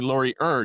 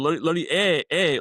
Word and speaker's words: Laurier: years, who up until recently consistently called me Laurier, despite the fact that I had clarified it for him many times.